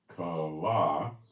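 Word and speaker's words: כָּלָה: Consumed is Strong's number 3615, pronounced kala.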